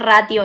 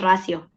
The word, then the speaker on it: ratio: No se confundan porque no es ratio, es racio. Así se pronuncia.